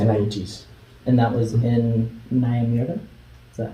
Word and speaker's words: Nyamira: And that was in Nyamira? Is that how you say it? Pardon? Yeah, Nyamira. Nyamira.